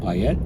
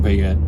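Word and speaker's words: Payette: gentleman's last name is uh pette I believe is properly uh properly pronounced but let me spell it for you p is and Peter a y e TT e and then the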